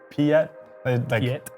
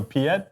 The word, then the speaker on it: Piet: yeah actually it's pronounced Piet phonetically it was like p-e-a-e-t so that's what they say so Piet is how I'm gonna